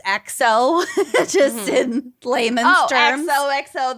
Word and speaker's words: EXO: sing is one example e EXO or I think it's pronounced XO just in layman's terms